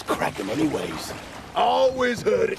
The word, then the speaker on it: Kraken: And I don't think it's Kraken anyways. I always heard it said Kraken. Well, with a long A?